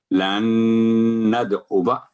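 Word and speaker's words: نَدْعُوَا: ندعو، اگر ہم یعنی درمیان میں پڑھیں گے لن ندعو، الف سائلنٹ ہو گیا، اور جب وقت پڑھیں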